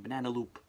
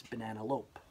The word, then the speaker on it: Banana Lope: wrong the whole time I was saying banana loop it's banana lope I got that light